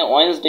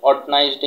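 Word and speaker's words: Wednesday: পেরেছো যে হচ্ছে যে আমরা এখানে ওয়েডনেসডে বলেছি, যে অর্টনাইজডে না বলে আমরা বলেছি ওয়েডনেসডে। তার মানে হচ্ছে যে ওয়েডনেসডেটাই হচ্ছে যে সঠিক প্রোনাউন্সিয়েশন, আমরা যেটা বলি অর্টনাইজডে আসলে এটা ভুল। তো তোমরা ওয়েডনেসডে বলার চেষ্টা করবে এটাকে।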